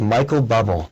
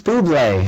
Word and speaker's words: Bublé: up from school, and I saw this CD, and it said Michael Bubble. Michael Bubbles. And I said, Mom, what is this? Right? Who is Michael Bubble? Poor And guy. she was like, no, it's Bublé. And I'm like, you know,